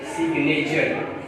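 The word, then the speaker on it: signature: मगर आप ये जो वर्ड है, मैंने इस वर्ड को इसलिए दिया है कि यहाँ पे एक्सेप्शन पाई जाती है, सिग्नेचर।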